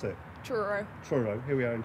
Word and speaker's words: Truro: How do I pronounce it? Truro.